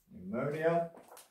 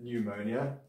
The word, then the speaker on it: pneumonia: So it's pneumonia. And there you don't pronounce the P. It's not pneu. Okay, it's just pneumonia.